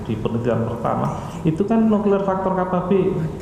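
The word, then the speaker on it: NF-κB: penelitian pertama itu kan nuklear faktor KB. Bacanya nuklir faktor KAB ini kan ee teraktifkan ya.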